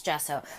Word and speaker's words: gesso: I always say gesso and I know it drives you guys nuts and I just say I gesso, it's gesso, but I'm going to say it right for you guys today.